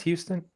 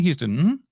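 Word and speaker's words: Huston: Is it pronounced Houston? Yeah, Danny Houston.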